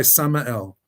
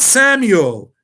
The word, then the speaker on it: Samael: snake spoke henceforth was inspired by samael not samuel samuel and some rabbis call